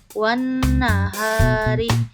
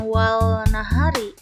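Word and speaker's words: وَالنَّهَارِ: lam cara membacanya gimana Alif lamnya tidak terdengar malah melebur bersatu dengan huruf yang ada di depannya contoh Wahari Wahari bukan Wal nahari tapi langsung lamnya dilewat melebur kepada huruf nun yang kedua azzakati azzakati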